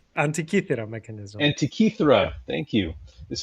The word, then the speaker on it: Antikythera: like this because it's a Greek mechanism, the Antithekara mechanism. Am I saying that right? Antikythera mechanism.